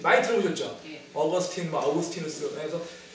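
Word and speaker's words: Augustine: 라틴어로 부르면 아우구스티누스고요. 영어식으로 발음하면 어거스틴이라는 사람입니다. 어거스틴. 많이 들어보셨죠? 어거스틴, 아우구스티누스.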